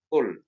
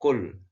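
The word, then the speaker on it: قل: pertama adalah di sini ada kata cool menggunakan huruf qaf ya bedakan dengan K jangan sampai Anda membacanya dengan full ya ini salah dan fatal ya jadi harusnya adalah of full Hai kul kul The Edge yang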